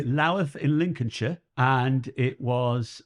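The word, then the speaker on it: Louth: My first gig was in the Greyhound in Laath. You got to pronounce it like that apparently. Laith in Lincolnshire and it was a new act competition.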